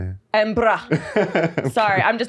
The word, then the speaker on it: Edinburgh: He came to Edinburgh and we were there. That's not how you say it. Edinburgh.